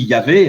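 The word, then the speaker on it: Yahvé: ce nom ce nom on peut dire on dit yavé hein mais un juif ne dira jamais il remplacera ça par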